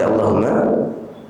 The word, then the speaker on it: Allahumma: Allahumma oleh karenanya kalau seseorang membaca Quran yang mendapatkan lafaz Allahumma lamnya dipanjangin tidak dipanjang jemaah allahumma Allahumma seperti lafaz